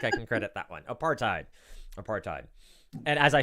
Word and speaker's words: apartheid: Maria? Apithard? Say that again? Apithard? I can't pronounce it. You are. I'm going to award the points. Apartheid. Apartheid is.